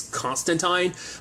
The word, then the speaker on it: Constantine: Of like, DJ would always bring up the fact is that the proper pronunciation of Constantine's name is Constantine, but I don't know whether that's just kind of like how that really plays out in that certain regard.